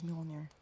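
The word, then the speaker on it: Mjölnir: said gaining her attention the hammer's name is mjolnir it's always so hard for me to tell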